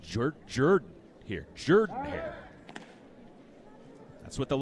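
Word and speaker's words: Jordan-Hare: I was told by some of the locals here, I've always called it Jordan Hair Stadium, which is just behind the third base dugout. I've I was told it's pronounced Jordan here.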